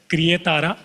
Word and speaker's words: Creatara: And for us at Creatara, we pronounce as Creatara. It's a Hindi word.